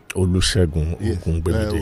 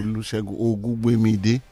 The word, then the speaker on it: Olusegun Ogungbemide: Is that the pronunciation? You are very right, sir. Am I? Olusegun Ogungbemide. Olusegun Ogungbemide.